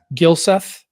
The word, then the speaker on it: Gylseth: Let me make sure I have your name pronounced right. Is that right? That is correct. Gylseth?